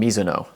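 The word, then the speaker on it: Mizuno: I'm going the Neo Zen from Miso. And yes, that is how you pronounce it. It is a Japanese last name.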